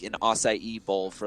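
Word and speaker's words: açaí: thing and they're like you're the first person to actually say the name correct you know everyone calls it acai or something like akai or something like that it's pronounced acai huh i uh i'm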